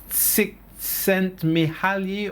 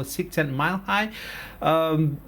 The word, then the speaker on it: Csikszentmihalyi: And one of the pioneers on flow, if you happen to read his book Csikszentmihalyi or Csikszentmihalyi, some people pronounce it different ways, but this guy, he writes a book called Flow.